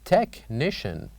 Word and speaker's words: technician: H are silent and number eight technician where H is silent and number nine school